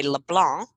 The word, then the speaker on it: LeBlanc: French spin on everything so I would say LeBlanc with a silence see do you pronounce the C or not well in Minnesota